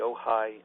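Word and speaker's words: Ojai: you spell the location in southern California the ohigh how do you spell that Community it's o j AI OJ AI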